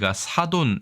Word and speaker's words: 사돈: 먼저 발음 과 의미 를 살펴보겠습니다 . 우리 는 이 단어 를 "sadon" 으로 읽습니다 .